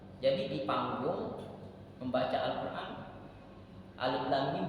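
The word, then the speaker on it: الم: mau lagi berguru Makanya kalau tidak berguru Alif Lam Mim dibacanya alam alif lam ro dibacanya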